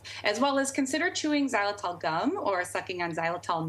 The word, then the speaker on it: xylitol: well as consider chewing xylitol gum or sucking on xylitol mints. Xylitol, it's spelled with an X.